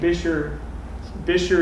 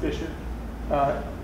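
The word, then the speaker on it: Buescher: But we're Bastrop State Park, and Bisher is spelled Buscher, by the way, it's German. So I'm talking about Buscher State Park, have you seen that written down? Pronounced Bisher.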